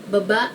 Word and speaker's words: baba: a sentence and it's just made of one syllable which is ba so it goes it means going down baba means down and bababa means going down and the ba at the